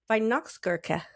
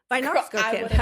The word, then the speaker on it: Weihnachtsgurke: It's spelled like, I'll just spell a little bit of it. Okay. W-E-I-H. W-E-I-H. W-E-I-H. Vi.